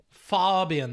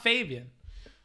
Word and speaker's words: Fabian: Fabian, that's how the Austrians pronounce it. Not Fabian.